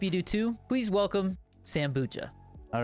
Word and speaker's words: Sambucha: So it is Sambucha? So it's like, okay. It's a good combination between kombucha and then Sambuca, but I didn't even know kombucha was really a drink until I found out.